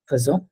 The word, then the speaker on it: faisons: no in present faisons this is not pronounced as aison ठीक है it's called faisons it's an exception in pronunciation this is called nous faisons faisons it's not faisons don't say it as faisons yes so what is the